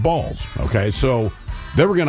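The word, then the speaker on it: Baals: B A A L S, but it is pronounced Balls.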